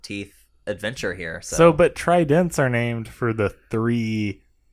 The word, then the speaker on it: Trident: is it called Trident and it's two syllables Trident shows its latin roots the first syllable try three as in three enzymes combines with dent teeth to give us Trident Trident had developed three